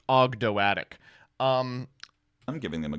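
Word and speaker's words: Ogdoadic: this to you but it's not actually OG doic it's actually pronounced ogdo atic um I'm giving them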